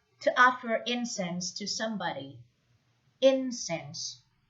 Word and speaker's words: incense: offer incense to somebody incense is an uncountable now with the stress on the first syllable next to make offerings